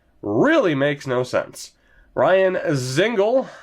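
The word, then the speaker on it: Dzingel: Ryan Zingle, apparently the D is silent, is with Logan Brown and Nick Bjugstad on the third line.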